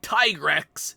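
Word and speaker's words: Tigrex: pronouncing it that way, the same way I pronounce Tigres instead of Trex. You gave it tiger stripes, but you pronounce it like T instead of Tai.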